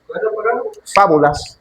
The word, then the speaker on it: fábulas: Fábulas. Ah, fábulas. Ajá. Con acento en la primera.